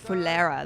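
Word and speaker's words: Phulera: Ticket ticket चलिए चलिए ticket conductor साहब फुलेरा में और कितना टाइम लगेगा ticket Oh, Fulera, that's how you say it. Pulera.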